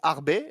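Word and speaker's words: Arbez: Il y a aussi il y a une autre arbe d'ailleurs qui existe aussi qui joue aussi et qui est en équipe de France également mais là c'est avec un Z mais ça se prononce Arbet non pas Arbe mais Carla Harbet joueuse de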